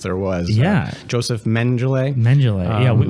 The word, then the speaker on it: Mengele: Mengele. We were having a discussion on how to pronounce his name before the show. And we settled on Mengele.